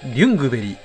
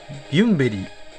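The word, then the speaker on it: Ljungberg: アーセナルのプレリックユングベリーゆんべりーユングベリーいろんな読み方があるんですけどまあ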